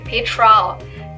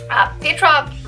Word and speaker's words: Petra: so when i say petra peggy there's another different pronunciation but in german it's more like you would pronounce it peter and and here's something